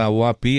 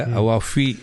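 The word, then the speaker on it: عوافي: ചില ആൾക്കാര് പറഞ്ഞു തന്നിട്ടുണ്ട് അത് അവവാഫി അല്ല അവാഫി ആണ് അപ്പ അതിന്റെ ഉച്ചാരണം അപ്പോ പിടി കിട്ടി അവഫയർ അവാഫി അവാഫി ആണ് അവവാഫി അല്ല അപ്പ അങ്ങനെ ചില കാര്യങ്ങളൊക്കെ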